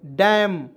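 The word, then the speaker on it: damn: यहाँ पे देखिए डी ए एम एन डैम, क्या पढ़ेंगे दोस्तों, डी से होता है ड और ए आएगा तो उसका आय के रूप में। एम से होता है म और एन को इसमें साइलेंट।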